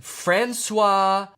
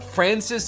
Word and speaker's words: Francis: I think maybe out of all of the ways I could have pronounced that was maybe like the worst. No, wait, why did I say Francois? His name's Francis. What the fuck?